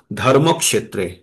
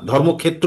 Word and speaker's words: ধর্মক্ষেত্রে: এ যুক্ত ওটা তাই ধর্মক্ষেত্রে ধর্ম কটা একসঙ্গে যেহেতু স এর সঙ্গে জুড়ে যাচ্ছে তাই কিন্তু ধর্ম ধর্মক্ষেত্রে বলে আমরা ছেড়ে দেব না ধর্মক্ষেত্র বলে হবে না ধর্মক্ষেত্রে সংস্কৃত উচ্চারণ হলে এরকম হবে ধর্ম ম এর উপরে